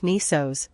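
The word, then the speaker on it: νῆσος: the stars the Greek new Sigma Micron nisos pronounced like nisos means Island people often neglect the full name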